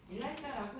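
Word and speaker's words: ELISA: 그죠 이걸 따로 뭐 일라이자 부이라고 하는데 일라 이자라고 읽어요 근데 이건 줄임말이야 요렇게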